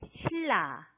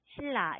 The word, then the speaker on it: 신라: 네, 신라 이렇게 쓰는데 여기도 지금 보면 니은 소리하고 리을 소리가 만났죠? 네, 발음이 어떻게 돼요? 그렇습니다. 이것은 네, 이렇게 읽어야 해요. 신라, 신라 이렇게 읽어야 합니다.